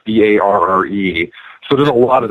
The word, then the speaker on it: Barre: In my upcoming book, there is what looks like bar mass, but it's pronounced Barre Mass, Barre.